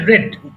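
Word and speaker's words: read: রেড one hour রেড রেড উচ্চারণ হবে রেড past টেন্সের উচ্চারণ আই রেড ওয়ান আওয়ার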